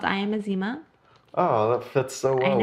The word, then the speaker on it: Ezinma: Yeah, it's Ezinma. Easy INMA. And it's silent.